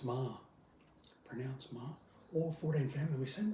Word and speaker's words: Meagher: He's the head, he's the grand dragon of the Ku Klux Klan, Judge Meagher. Pronounce Ma.